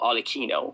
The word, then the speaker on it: Arlecchino: Now, Harlequin, or Arlecchino, which is the Italian way to pronounce it, named primarily after Helikins, which is the French iteration of the Wild Man.